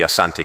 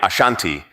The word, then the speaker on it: Asante: The variant name Ashanti emerged from British reports where the pronunciation of Asante was transcribed as Ashanti reflecting how the British heard and interpreted the word.